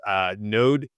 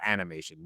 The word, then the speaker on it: nodemation: Nodemation is how you would spell that, because I know people are asking. It's not animation, nodemation.